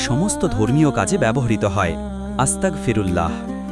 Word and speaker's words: আস্তাগফিরুল্লাহ: আস্তাগফিরুল্লাহ। উচ্চারণ আস্তাগফিরুল্লাহ।